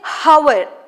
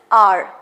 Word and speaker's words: hour: Over here, an or H is silent. Okay, so H is silent. We don't say hour. Okay, we don't say hour, whereas we say it is R. An R. Understood? An R. So here H is silent, so we use O. O sound, that is R.